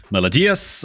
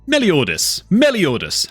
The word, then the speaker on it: Meliodas: Okay, so the current pickup character right now is, of course, Melodius, or... Is it Melodius? Meliodas. I was saying it wrong.